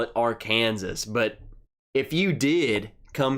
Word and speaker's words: Arkansas: That's Arkansas. And here's the thing, they taught us why it's pronounced that way in Arkansas history.